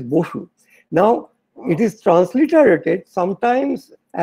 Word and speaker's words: Bose: Gell-Mann immediately stood up and said, "Oh no, it's not Bose. You see, the original Bengali name is Bosu.